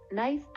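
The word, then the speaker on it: knife: ಅಕ್ಷರಗಳು ಎಂದು ಅರ್ಥ ಉದಾಹರಣೆಗೆ ನೈಫ್ ಅಂದರೆ ಚಾಕು ಇಲ್ಲಿ silent letter K ಉಚ್ಚಾರಣೆಯಾಗುವುದಿಲ್ಲ ನೈಫ್ right ಬರೆಯುವುದು ರೈಟ್ ಪದದಲ್ಲಿ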